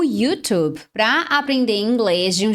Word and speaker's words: YouTube: Em inglês, a pronúncia correta é YouTube. Como eu sou professora, eu sou mentora de inglês, então eu sempre acabo optando pela forma original, né? A pronúncia em inglês, YouTube. Agora, se você falar YouTube, tá errado? Não tá errado se você falar no português, porque YouTube é a forma aportuguesada de YouTube.